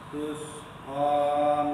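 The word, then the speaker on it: تُسْقَىٰ: Pengucapan sin juga gitu. Penyebutan sin tidak boleh monyong. Tus. Tadi Mas Anto baca tus, ikut domah dari tu-nya. Sekarang tus, bismillah. Seperti itu baca sin.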